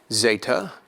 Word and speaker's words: zeta: e like Express Express Zeta will be pronounced similarly to the English Z as in zeel zel AA a longer form of